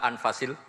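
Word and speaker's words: أنفس: harokatnya ya di sini ditulis anfushil kutub selalu saya baca anfasil karena maknanya kitab terbaik kalau kitab terbaik bacanya bukan anfus tapi apa ya nanti kamu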